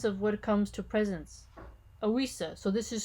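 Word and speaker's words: ousia: coming to presence of what comes to presence ausa so this is spelled o-u-s-i-a oisa then can mean both the coming-to-presence of something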